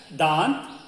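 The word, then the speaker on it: दाँत: The teeth is pronounced as dant.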